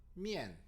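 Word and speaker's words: 面: 근데 미안이라고 읽는 게 아니라 미엔이라고 읽습니다. 제가 한번 중국어로 읽어보겠습니다. 미엔.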